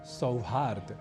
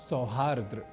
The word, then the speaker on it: सौहार्द: यह कना हो तो बनेगा शब्द सौहार्द ना कि सौहार्द्र इसी तरह से एक